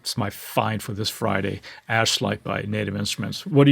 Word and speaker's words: Ashlight: this correctly because this is very easy to mispronounce this, but it's called Ashite. Ash light and it is a granular synth engine essentially